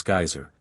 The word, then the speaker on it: geyser: high above the waters the geyser a word the icelanders pronounce geyser and which signifies Fury Rose majestically from its